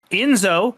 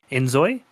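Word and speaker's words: inZOI: We have Enzo coming out on PC on March 27th. Oh, wait, I might have mispronounced that. Enzoy? Enzoy.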